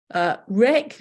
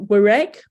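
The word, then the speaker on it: wreck: Comb, we don't say comb, rec, not werec.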